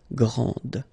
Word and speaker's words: grande: Okay, so you put this E and then you get the sound D, grande.